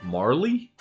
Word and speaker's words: Marle: Until I was corrected on a recent stream. When I played through it, Marley. But I'm still going to call her Marl. I don't care. If they wanted it pronounced Marley, they should have spelled it more clearly.